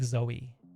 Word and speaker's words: Zowie: Um, it is pronounced like Zoey.